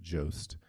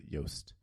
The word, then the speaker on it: Jost: assume that his surname, it's spelled Jost, and he pronounces it Jost, but I assume that it's Dutch, and it would be pronounced by the Dutch as Joost.